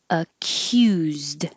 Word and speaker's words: accused: a parent a parent accused this c u is a k y u q accused in cyst